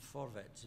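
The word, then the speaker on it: Vorwärts: the London correspondent of for vets that's how you pronounce it the german social democrat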